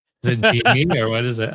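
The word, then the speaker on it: Gini: Is it Genie or what is it? How do you say it? Is Genie, yeah, the Genie coefficient.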